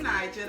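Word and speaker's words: Knigel: y'all, it's your girl Nigel. That's Nigel with a K. The K is silent, period.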